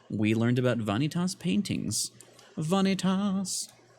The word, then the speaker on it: Vanitas: Vanitas. That's at least how my professor pronounced it. Like fajitas.